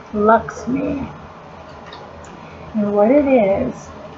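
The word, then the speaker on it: LXMI: this Lex me it's lxm eye but it's pronounced Lux me know what it is it's this is called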